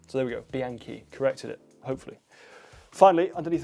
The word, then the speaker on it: Bianchi: I also got a lot of feedback on my pronunciation of Bianchi. Bianchi, so there we go, Bianchi, corrected it, hopefully.